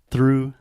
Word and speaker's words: through: No difference in pronunciation. It's the same damn thing. Through. I'm going to the drive-through, and my dad threw the football with me. Wait, so I don't say through? I say through? Yeah, exact same pronunciation.